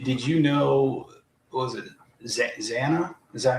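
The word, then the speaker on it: Xana: Oh, and then did did you know was it Zana? Is that how you say her name? Or Zena? Zanna.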